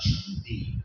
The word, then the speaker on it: Shang: It's pronounced Shang.